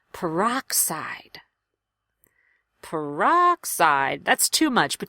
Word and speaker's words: peroxide: great word for rhythm really sit on the strongest syllable make that aa vowel louder and longer peroxide peroxide that's too much